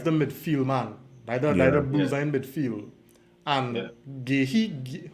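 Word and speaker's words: Guéhi: And Gehi, how does pronounce the captain name? Gehi? Gay. Yeah, Gay.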